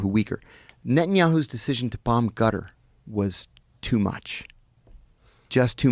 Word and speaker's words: Qatar: You said gutter. It's back here. It's called a qaf. But so Qatar. I've heard cutter. Yeah, it's not cutter, but you're saying it like a G? They use a G sound.